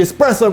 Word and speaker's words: espresso: need to remember though is the way you pronounce it i'm talking to you jay espresso get out of it it's the espresso martini number one let's have a look at